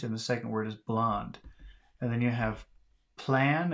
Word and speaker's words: blond: X word is b-l-o-n-d blonde so the first word is blong but the next word is blown a little bit different